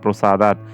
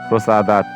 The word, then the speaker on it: প্রসাদাৎ: তারপর প্রসাদাত এর উচ্চারণটি হয়ে যাচ্ছে প্রসাদাত।